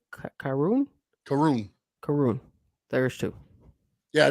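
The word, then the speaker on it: Karrion: and a how do you say his name karoon karoon karoon there's two yeah no no I I know that's where I messed up karoon earlier because I was like Aaron like I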